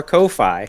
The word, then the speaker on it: Ko-fi: plug the is it is it pronounced coffee yeah it's buy me a coffee Coffee Co ko-fi I thought it was